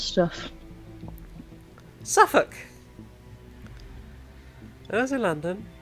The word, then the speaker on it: Suffolk: Suffolk. When I was in London, we would get off at Suffolk Station. It was pronounced Suffolk. S-U-F-F-U-K. Suffolk.